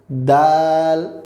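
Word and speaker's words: دال: আমাদের পরবর্তী বর্ণ হচ্ছে দাল এটা আমরা বলবো দাল দাল বাংলায় যে দ রয়েছে আমাদের যে দ রয়েছে এটার আকার দিয়ে দাল একটু টেনে বলবো পরবর্তী বর্ণনা হচ্ছে এই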